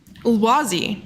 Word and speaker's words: Ulwazi: Okay, well, guys, this is Ulwazi. Do I have the pronunciation correct? Yes, correct. Yes, Ulwazi is our mascot for the African Youth Chess Championship.